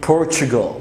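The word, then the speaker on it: Portugal: البرتغال، اوكي، دي نطقها صعب شويه، ركز معايا، بنقول بورتوغال، بورتش، تش، التي تقلبها سي اتش كده شويه فيها شين، بورتوغال، والال تبقى مضخمه كده في الاخر.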